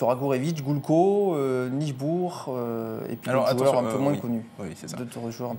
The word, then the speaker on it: Nijboer: Donc Nijbourg, ça s'écrit Nijboer. Donc il y en a beaucoup qui le prononcent mal.